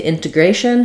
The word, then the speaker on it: integration: first aspirated t then when we move to integration here we do stress on the a syllable because we typically have a pattern in English that when we have the shun ending we always stress the syllable that comes before the shun communication Nation Etc so an integration again